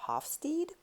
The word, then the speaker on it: Hofstede: US or in Europe, you will probably pronounce his name differently. So here in the US, we would probably call him Gert Hofstede. And if I pronounce it correctly, he was from Holland, and the Dutch, I believe, would say Hofstede.